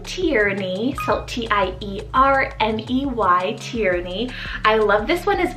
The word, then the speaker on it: Tierney: future i have the name tierney salt t-i-e-r-e tyranny i love this one as well for the